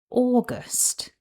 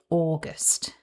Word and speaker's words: August: August. So, now you know how to pronounce August in English. My top tip is to take care with the initial vowel sound. It's aw and not ow in English.